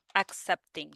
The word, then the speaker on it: accepting: Accepting, Yes, accept. There is the k in the accepting.